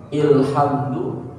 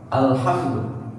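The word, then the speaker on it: الحمد: Ini kita baca apa nih? Ilhamdu, ulhamdu, atau alhamdu. Al. Ini tidak pakai rumus yang huruf ayat ke-6. Karena dia ada alif lam mutlak.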